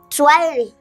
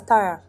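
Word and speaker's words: Tyra: Twire. Eh? Twire. Eh? To Y-re. No, this is pronounced as Tire.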